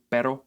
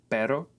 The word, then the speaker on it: pero: Another good exercise is to compare the pairs of words pero and perro, and also caro and carro.